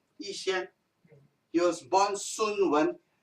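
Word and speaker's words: 逸仙: Yat-sen was a Cantonese pronunciation when he went to school in Hong Kong. Yixian in Mandarin.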